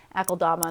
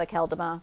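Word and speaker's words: Akeldama: things are pronounced or I would have said it's akodama not a calderma but what I'm I'm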